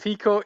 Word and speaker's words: Piko: What is the Okay. proper way to say your company? Okay, it's we can go with Piko Interactive.